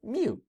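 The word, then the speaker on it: μ: But some cats, it's not meow, but some cats make the sound of mu. That's how you pronounce the symbol.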